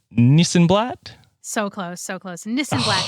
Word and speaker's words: Nissenblatt: name correctly first it's nissan it sounds exactly as it's spelled so before before we have you on the show nissenblatt that is correct okay